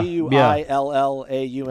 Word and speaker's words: Guillaume: G-U-I-L-L-A-U-M-E. Oh, man, I used to know how to pronounce that.